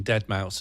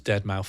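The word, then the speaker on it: deadmau5: Can I say I when people found out that I had been for several years pronouncing dead mouse as dead mouth 5, they ripped the out of me.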